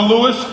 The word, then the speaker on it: Louis: We've got from Fun for Louis Cole. It's actually Louis, but Louis. Yes, sorry. Yeah, Louis is his dad. S is silent. I'm sorry. it's the silent S. It's, Right. Yeah, it's a French pronunciation.